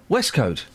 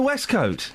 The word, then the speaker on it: waistcoat: Well, that's ladies and gentlemen of a certain generation, it's pronounced, and I think you'll agree with me, Westcoat. A waistcoat. It's pronounced a Westcoat. That's how you pronounce it.